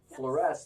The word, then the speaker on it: Fluoresce: the correct pronunciation of the emphasis on the second syllable fluoresce like a fluorescent yes like a fluorescent